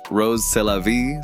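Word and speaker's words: Rrose Sélavy: When pronounced in French, Rose Sélavy sounds like Eros, c'est la vie.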